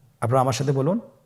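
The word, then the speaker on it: ب: আমাদের স্ক্রিনে চলে এসেছে বা বা হরফটি কিভাবে উচ্চারণ করবেন বা হরফে টান হবে এক আলিফ টান আপনারা আমার সাথে বলুন বা আবার বলুন বা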